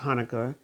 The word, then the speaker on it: Hanukkah: it's also it's pronounced Hanukkah and and it can be spelled a different way but pronounced the same now this picture it